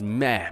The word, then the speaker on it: Me: I heard it's actually pronounced meh, but it just doesn't feel right at all saying it that way.